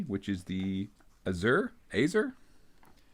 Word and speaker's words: Azer: This week we are on the final entry in A, which is the Azer? Ayzer.